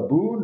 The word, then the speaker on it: bún: Bún always has to be fresh noodle.